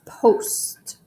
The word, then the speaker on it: post: the last word was post again it has one vowel followed by a consonant but it makes that long o sound so that means it's